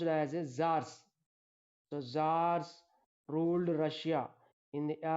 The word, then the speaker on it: tsars: That is pronounced as czars.